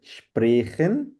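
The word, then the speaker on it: Sprachen: to speak স্প্রেখেন to speak স্প্রা আ উচ্চারণ হবে স্প্রাখেন স্প্রাখেন মানে স্প্রাখেন মানে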